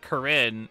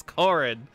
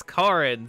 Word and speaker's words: Corin: because it's like it a lot of people would pronounce it Karin and that's very much a traditionally feminine name but they're just like no it's Corin it's Corin so it's could be